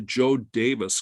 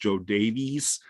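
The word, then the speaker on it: Jo Daviess: all the way to Joe Davis County. And a lot of people think it's pronounced Joe Davies. It's actually Joe Davis, like D-A-V-I-S.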